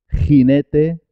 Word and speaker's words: jinete: Jarra, jefe, gente, jinete, página, lo mismo. Jinete se escribe con J, página se escribe con G, pero los dos suenan ji, ji, con la garganta, ji.